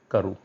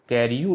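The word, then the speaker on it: Carew: और जो दूसरा वर्ड है वो है करू, कैरियू नहीं है, इट इज़ करू, टॉमस करू।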